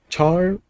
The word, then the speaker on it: char: Is char star pronounced as car star or char star? I like char star, but I think car star is a valid pronunciation.